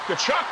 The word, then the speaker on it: Tkachuk: We'll say a word that rhymes with Chuck, with Tkachuk, and it is certainly not duck, I'll tell you that.